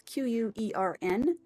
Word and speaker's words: Quern: I think that's how I'm pronouncing it. It's Quern.